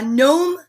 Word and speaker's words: gnome: is for gnocchi the gnome yells what waiter there's a bright white net nibbling at my gnocchi see that g is silent a gnome gnat and gnocchi that is a very